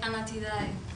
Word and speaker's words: Anatidae: How do you pronounce the title of your film? Anatidae.